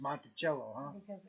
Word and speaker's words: Monticello: takes the lead from it's pronounced Monticello that's what I said I didn't know if it was French or you know thank you